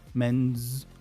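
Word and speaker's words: mends: In the third person, how would you pronounce it? Meny's men's. Men's men's.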